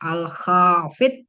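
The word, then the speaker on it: الخافض: Nah, bacanya betul-betul Al-Khafid. Nggak pakai fi gitu, nggak ada.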